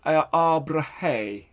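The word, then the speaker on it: Abrahae: Pronunciation, last syllable, abrahe, abrahe, hey, like that.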